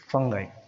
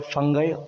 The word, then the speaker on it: fungi: In this video, let us discuss the third kingdom, that is fungi. The pronunciation you can call fungi or fungi, both are same.